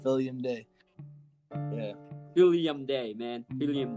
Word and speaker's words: Filium Dei: Am I pronouncing it right? Filium Dei.